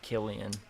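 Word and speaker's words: Cillian: who else found out his name is pronounced Killian so someone just asked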